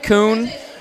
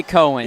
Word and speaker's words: Koen: Heard it's pronounced Kuhn. I want to say Cohen. Yeah, that's right. I also want to say Cohen. Everyone is afraid to pronounce his name correctly.